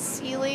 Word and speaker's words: Celi: I heard yesterday in the warm room that Chris, is it pronounced Celi, his last That's name?